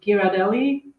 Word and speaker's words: Ghirardelli: You can also, actually, in the grocery store they often have, um, I hope I'm going to pronounce it correctly. Is it Ghirardelli?